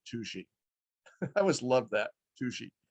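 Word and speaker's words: Touchet: walla called uh well it's spelled like touche but they pronounce it toushi i always love that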